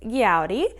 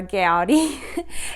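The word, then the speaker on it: Gaudí: yarn, and I have recently learned how to pronounce things better. So this color is Gaudi, or Gaudi.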